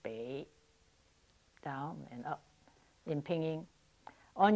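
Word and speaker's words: 北: character for north is bei pronounced Bay and up in pinging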